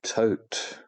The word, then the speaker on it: Thoth: These date back to the ancient Egyptian god called Thoth, or Thoth, or Tote. I call him Thoth because I'm English.